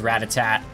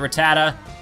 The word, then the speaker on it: Rattata: fear with our strength as a kid I used to pronounce Rattata as I think I've would pronounce it as Ratatat because I can't I couldn't read oh it's a sand